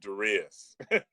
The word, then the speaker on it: Darius: You know, there's 8 billion people on the planet, and I'm the only person out of 8 billion that pronounces it Darius.